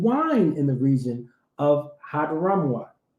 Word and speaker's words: Hadramaut: in the region of Hadramaut. Hey, that's how we pronounce it right now, brother. Keep reading. Hadramaut.